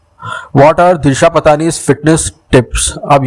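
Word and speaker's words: Disha Patani: अब ये तो दिशा पतानी से पूछे, और ये दिशा पतानी, आई थिंक ये करेक्ट प्रोनाउंसिएशन नहीं है, मुझे पता है, दिशा पत्नी, पत्नी, आई थिंक उसने खुद ने बोला है दिशा पत्नी इज the right pronunciation of her name.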